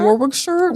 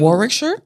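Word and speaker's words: Warwickshire: Did I pronounce that correct? Okay. Warwick shirt. Warwick shirt. I've heard that too. Warick shirt. Yeah, they say it in like a whole like one.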